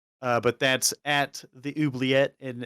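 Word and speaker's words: oubliette: but that's at the oobleyette and it's a it's french word but it's spelled o-u-b-l-i-e-t-t-e i gotcha well hey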